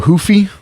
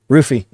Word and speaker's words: Ruffy: Mauricio Hoofy. Ruffy. Ruffy. Chandler. Ruffy and Chandler. I thought the Rs are pronounced like H's in Brazil. Hoofy. Ruffy. It's I think it's Hoofy.